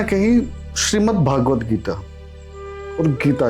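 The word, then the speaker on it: भगवद्गीता: प्रायः लोग सबसे बड़ी गड़बड़ी कहां करते हैं? नामो उच्चारण में कर देते हैं। जैसे लोग कहेंगे श्रीमद् भागवत गीता और श्रीमद् भागवत। देखिए श्रीमद् भगवत गीता और श्रीमद् भागवत महापुराण आपस में भिन्न है और इस विषय पर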